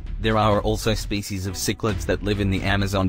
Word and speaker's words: cichlids: african cichlids first off cichlids is pronounced sick lids african cichlids are fish